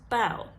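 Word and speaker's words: bough: u h for example if you put a b in front of it that becomes bow if you put a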